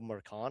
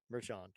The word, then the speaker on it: Marchand: If I can get that up, his name was Rafael Marcan, I think, if I'm pronouncing that correctly.